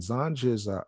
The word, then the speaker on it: Zanj: And Zanj is, in Arabic, is pronounced Zanji, Romanized Zangi, Turkish Zenci,